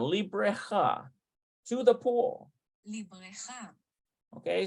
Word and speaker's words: לבריכה: Let's see how that's pronounced. I think it's Bareka. Looks like Bareka. Labreka. Yeah, to the pool. לבריכה. Librecha.